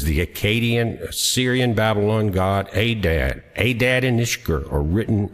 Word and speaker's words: Adad: Hadad or Adad, the Akkadian pronounced Adad or Ishkur.